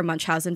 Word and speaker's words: Munchausen: sister was investigated for Munch Housen by proxy how's my pronunciation uh it's perfect spot on it's perfect thank you